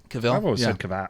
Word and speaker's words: Cavill: out so good but Cavill pronounced Cavill Cavill Cavill henry cavill